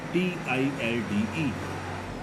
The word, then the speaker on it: tilde: This symbol is tilde, T-I-L-D-E. Here L is silent, so this is tilde.